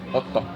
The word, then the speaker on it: Otto: Well, it's Otto. Otto in Finland.